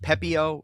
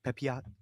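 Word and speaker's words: Pepiot: play all right Ryan I believe his last name is pronounced pepio if not pepot the rais pitcher okay pepio I had it right he has gone four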